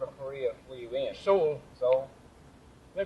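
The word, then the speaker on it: Seoul: Korea were you in Soul so they pronounced the dictionary says it's so but everybody over there calls it Soul so I call it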